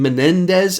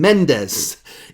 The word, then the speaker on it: Mendes: When I did my 1917 review, apparently I said Sam Menendez, and I added a couple of extra letters in there, so I've been trying to practice saying Sam Mendes and not extending his name for an extra syllable.